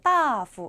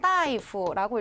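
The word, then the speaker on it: 大夫: 여기서 이거 따후 이렇게 읽으시는 분 계세요? 따후. 큰일 나죠? 자, 여기 있는 이 첫 번째 글자는 따이프라고 읽으셔야 돼요.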